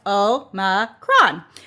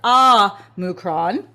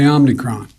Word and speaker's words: omicron: the greek letter o is supposed to be pronounced oh ma kron but a lot of